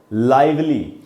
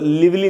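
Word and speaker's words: lively: उसके बाद है दोस्तों जो नेक्स्ट वर्ड है, ये भी बड़ा अच्छा वर्ड है, और ये है लाइवली। इसको दोस्तों लिवली नहीं पढ़ना है, इसका करेक्ट प्रोनाउंसिएशन है लाइवली।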